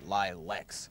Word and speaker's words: Lileks: I made it up, and I chose one so easy to pronounce, so people like you could say Lileks and stumble.